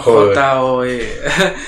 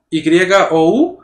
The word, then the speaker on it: You: J-O-E. Okay. Yo, o les decía yo, lo escribían Y-O-U, uh-huh, pero me decían you. Sí, ya, güey. You. Entonces, la pronunciación correcta es Joe.